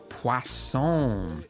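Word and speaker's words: Poisson: distribution but something called pon dis distribution Pon there's no w in it but I was told that that's how you say it I guess it's French when we use this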